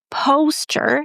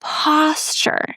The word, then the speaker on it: posture: And then I realized that it's not posture, it's posture. Posture with the ah sound as in hot.